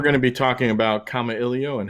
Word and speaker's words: Kamailio: come up what and it's comma Ellie oh I have it phonetically spelled out for anyone that might need help saying it it's a Hawaiian word that means to communicate and it was chosen